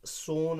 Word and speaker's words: Son: एक तो था गंगा और दूसरा था सोन। क्या है? SON, सन नहीं पढ़ना, ये असल में रिवर सोन है, SONE असल में है ये, ठीक है। तो SONE की जो प्रोनाउंसिएशन निकलेगी वही SON की है, सन नहीं पढ़ना बेटा, ठीक है।